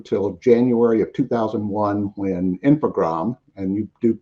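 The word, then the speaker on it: Infogrames: January of 2001 when infogram and you do you just dropped the es on the end on that French pronunciation um took over was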